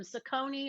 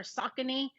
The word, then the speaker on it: Saucony: Saucony or Saucony, I believe is how that is pronounced.